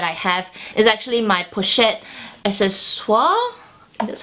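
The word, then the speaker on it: Pochette Accessoires: The next luxury favorite that I have is actually my Pochette Accesoires.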